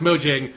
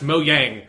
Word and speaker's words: Mojang: Minecraft and oh right Mojang is not pronounced Mojang Mojang is pronounced moang it's just something I